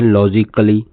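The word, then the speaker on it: logically: और अगला वर्ड जो लिखे हुए हैं यह है लॉजिकली। लॉजिकली लॉजिकली यहां ए साइलेंट है।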